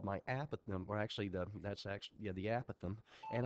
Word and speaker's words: apothem: The apothem, it's a lot more fun to say apothem, but since I'm on the web and I need to pronounce it correctly, the apothem is the perpendicular distance from the center to a side.